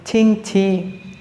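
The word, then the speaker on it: Qingqi: हम स्पेलिंग देखें ना, ये लिखे होते हैं QING, QI। हम इसको चिंची बोलते हैं, लेकिन जब इस चाइनीज़ इसको पढ़ेंगे वो इसको पढ़ेंगे छिंग छी, छिंग छी।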